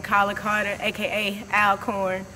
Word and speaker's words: Alcorn: name colin carter aka alcorn but the college is actually pronounced all corn just to put that